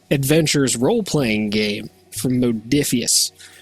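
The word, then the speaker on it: Modiphius: role playing game from modius or modaus if you want to pronounce it incorrectly which means that the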